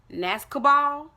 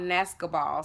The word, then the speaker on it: Nascobal: But it's called Nascobal. So, Nascobal, Nascobal, B12 nasal sprays.